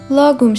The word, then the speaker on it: lagom: İsveççe'de telaffuzu lagom şeklinde olsa da birçok dilde lagom olarak telaffuz ediliyor.